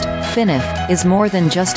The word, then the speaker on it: FNAF: and structure yet Freddy's colloquially styled fnf pronounced finif is more more than